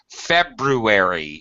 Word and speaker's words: February: wrong for some reason two RS in a word February is another one um you should pronounce the RS if they're in the word but but we English native speakers hate doing it all right obviously well